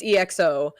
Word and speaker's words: EXO: It's EXO.